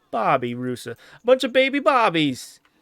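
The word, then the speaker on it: babirusa: I've been pronouncing them because I thought they were pronounced barbar rusa but no there's are there it's a Bobby rusa A Bunch of Baby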